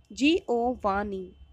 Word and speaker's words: Giovanni: giovanni son of florio his name is pronounced with four syllables jiovani question number nine byron's